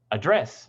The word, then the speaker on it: address: I should add that in this word, the primary stress is always on the second syllable in British English.